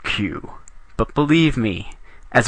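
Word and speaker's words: queue: Q now you might say Sir that is pronounced K like it is Spanish or something not q but believe me me as a reformed ker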